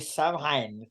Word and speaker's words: Samhain: She's Irish, so Samhain, so I worked out for a start, Samhain is pronounced Samhain.